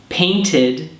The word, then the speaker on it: painted: And painted has an extra id sound at the end.